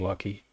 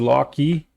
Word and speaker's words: Loki: It's like Loki. But it was a bouquet, so I always call him Lucky, guys. I might I might stream for another pronounces lock key.